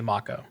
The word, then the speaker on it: Mako: It is actually Mako. It's definitely Mako, my friend. My whole life, I never realized that a shark could have a long A in it.